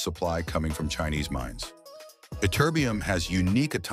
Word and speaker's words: Ytterbium: Did you know ytterbium is worth more per ounce than gold, yet nobody can pronounce its name?